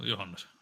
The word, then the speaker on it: Johannes: How do you say your middle name? Is it Johannes or Johannes? Oh, Johannes. Okay, so it is like a Y, not a A, and not a J.